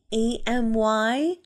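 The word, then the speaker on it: Aimee: your name not amy amy no but it sounds the same how do you spell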